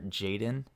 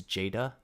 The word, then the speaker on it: Jada: name wrong I believe I called her Jayden its Jada so that was my